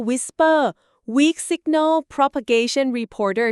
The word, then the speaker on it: WSPR: บ WSPR ที่ อ่ า น ว่ า Whisper Weak Signal Propagation Reporter ใ ช่ ไ ห